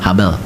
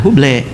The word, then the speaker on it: Habel: Kalau orang Amerika nulisnya nah itu aja dibacanya sama habel jangan dibaca huble ya.